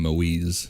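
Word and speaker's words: Moïse: Which they called him Moise, is the French Canadian pronunciation.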